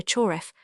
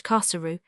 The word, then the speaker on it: Khosru: You call him here Choref, but the name is pronounced in Turkish Khosru.